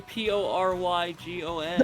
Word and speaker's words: Porygon: It's like someone who on the East Coast who doesn't know how to pronounce. It's literally Porrygon.